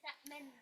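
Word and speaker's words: تأمنا: recitation, in terms of how you can actually pronounce this particular ayah. The main one is Ta'manna.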